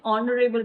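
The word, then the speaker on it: honourable: Before the silent H, ठीक है? अगर साइलेंट है एच, एंड ऑनेस्ट मैन ओ का साउंड दे रहा है जो कि वोवेल है, एंड अवर, एंड ऑनरेबल person, अगर साइलेंट है कॉन्सोनेंट, तब भी हम एन लगाएंगे, ठीक है?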